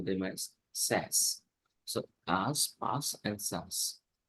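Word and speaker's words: SaaS: software as a service we call them as SAS so as pass and SAS then there is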